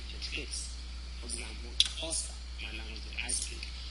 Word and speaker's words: Xhosa: For example, Xhosa, my language that I speak.